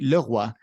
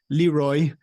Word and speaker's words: Leroy: Leroy, actually it's Leroy. Roy is like from Quebec, so Leroy. Leroy in English. I guess you're getting that sometimes. So I'm gonna pronounce it both ways.